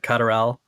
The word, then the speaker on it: Lutterel: I'm pronouncing it right. Lutterel.